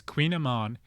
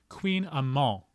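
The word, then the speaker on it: kouign-amann: spell AMA and T which if this were French how you pronounced that word is amol you wouldn't pronounce the ENT at the end you have to really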